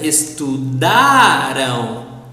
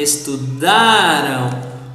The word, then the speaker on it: estudaram: plural pronouns has the stress on the penultimate syllable. Pay attention here. Estudamos, estudamos. Other, estudaram. The last one, estudaram.